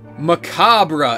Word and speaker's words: macabre: It's just a grim, grotesque, macabre experience. Am I pronouncing that right?